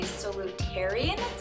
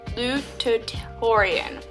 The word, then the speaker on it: salutatorian: So I realized that I pronounced it wrong. It's sal Salutatorian. Salutatorian. Hey guys.